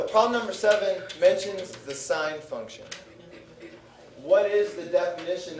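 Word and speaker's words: sine: Sim. No, it's pronounced sign.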